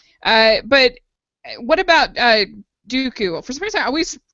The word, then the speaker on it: Dooku: time with that name Dooku uh what do you think I mean I think Christopher Le is pretty great remember that Abby Abby said it rhymes with Dudu okay good yeah what